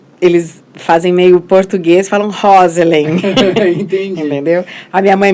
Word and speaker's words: Roselen: Na realidade, é um nome inglês, seria Rosalind. Mas entendi. Ninguém no Brasil nunca falou Rosalind. Daí ficou no Brasil, ficou Rosellen.